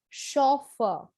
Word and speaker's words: chauffeur: of a loan word this is pronounced as chauffeur so the sound is shaw but the spelling is c-h-a-u so the stress is on the first syllable for the british english it is chauffeur and for the american english the stress is on the second syllable it's chauffeur which means